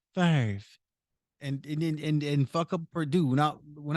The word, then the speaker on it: Favre: It's not Farve. It's Favre.